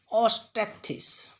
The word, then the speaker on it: Osteichthyes: दूसरा बोला जाता है ऑस्टेक्थिस, ऑस्टेक्थिस, OSTEICHTHYES।